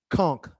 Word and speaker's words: conch: I believe that's pronounced conchk tree, not crunch.